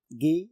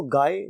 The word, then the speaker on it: Guy: बाय गी डी मुफसा यह French word है इसको गाय नहीं पढ़ेंगे हम यह वर्ड इंग्लिश में भी सेम स्पेलिंग के साथ मौजूद है उसमें इसको गाय पढ़ा जाता है क्योंकि यह एक फ्रेंच राइटर है तो इसलिए इसकी जो प्रोनंसिएशन बनती है वो गी डी मसा पढ़ा जाता है तो हम इसका